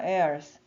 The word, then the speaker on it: heirs: Now, if we are children, 그리고 우리가 이제 그렇다면 이제 우리가 자녀라면, then 그러면 we are heirs. 그래서 이때 H는 묵음이고요.